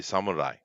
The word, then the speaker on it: samurai: Now, I just pronounce it in an English way, but that's not how they say it. They say samurai, right? Now, I don't know if you can tell the difference, but it's Samurai.